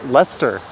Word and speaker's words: Leicester: full ass snowfall tonight pronounced lester kind of like the street uh gloucester then you must be